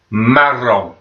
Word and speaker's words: marron: And brown we would pronounce, and again this has got two R's in, so you've got to roll those R's again, make your tongue vibrate against your teeth. Marron.